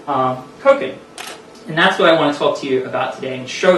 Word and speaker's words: Koken: Koken is pronounced like spoken. It is a Japanese word. It's Koken.